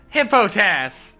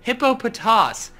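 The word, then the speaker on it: Hippopotas: hey botas hippo tafs hippo tas is no that's worse than the anime pronunciation of it hippo pitous its nipple POTUS yeah it's hippopotamus with the M syllable taken out hippo TAS I feel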